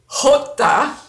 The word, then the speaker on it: Jota: the fun ones okay Jota is the J and you have to clear your throat hook hook that that's always fun